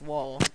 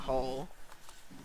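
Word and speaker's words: Woll: hole or by wool I think I've been saying his name wrong this whole time whoa yeah it was wall not whole as a breakaway for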